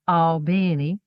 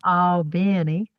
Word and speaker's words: Albany: Albany, Georgia, which, uh, true Albanians pronounced Albany. Okay. Just like that. Albany.